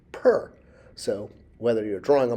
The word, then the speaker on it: pr: But in ancient Egypt, of course, we know that a house was drawn as a overhead plan and is pronounced per.